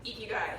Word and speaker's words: Ikigai: So Ikigai, yes, but it's gonna come up.